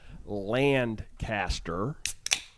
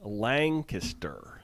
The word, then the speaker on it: Lancaster: right they are hard so I think we pronounced the name of the town land caster very wrong as land caste and I got an Instagram correction with a picture that said it is Lancaster Lancaster Lancaster I've heard it said that way